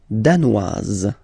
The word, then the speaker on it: danoise: Le Danemark, danois, danoise. Z, okay, insist on that. Danois, don't pronounce the final S. Danoise, here you pronounce it.